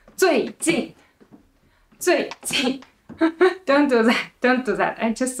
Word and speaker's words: 最近: It's like 最近. It's not 最近. Okay, so first one is lighter and shorter is 最近.